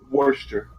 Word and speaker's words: Worcester: Worcester? Worcester. Like Worcester sauce. Oh, okay. Well, okay, so is it that, or is it... how do you It spell should be Worcester, like Worcester sauce, yeah.